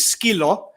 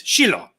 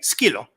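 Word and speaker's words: σκύλο: And the pronunciation, the sh's and stuff, like a dog in Greek is skilo, and in Cyprus it's shilo, like sh. In Greek it's sk, skilo. Like Sasha's a little skilaki.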